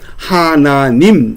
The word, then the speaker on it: 하나님: 않 로 채택이 되면서 서북 지방에서는이 아자를 어떻게 발음하는 하나님 이렇게 발음을 한 겁니다 아가 모음으로 바뀌어서 하나님이 됐습니다 반면에 서울 이남 지방에서는 이것을 아래 아를의 모음으로 바꿨습니다 그래서 하느님 이렇게 발음이 된 겁니다 그러니깐 하나님도 맞고 하느님도 맞습니다 그러면이 의로 바뀌는게 뭐냐